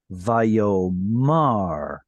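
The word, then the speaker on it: וַיֹּאמַר: So the non-apocopated form with the stress on the last syllable is going to be Vayomar. Vayomar. So when do we get to see Vayomar instead of Vayomer?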